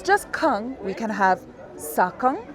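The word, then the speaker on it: ཁང: ka nga kang kang And again, it's very terminal. I don't say kang, I say kang.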